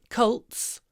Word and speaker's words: cult: say Cults Cults Cults no it's a cult ah got it no it's not a coat it's a cult it is a cult not a goat he got drawn into